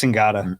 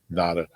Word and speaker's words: Ngata: It's pronounced differently than Haloti, right? Yeah, I believe it's Ngata. Ngata, Haloti, Nada.